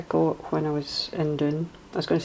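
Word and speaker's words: Doune: when I was in Doon. I was going to say up in Doon. Doon is tends to be the way Scottish people pronounce down, but this is actually called Doon, D-O-U-N-E.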